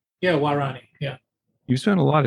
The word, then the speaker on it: Waorani: Now, you spent a lot of time with that see if I'm pronouncing it, Warani? Yeah, Warani, yeah.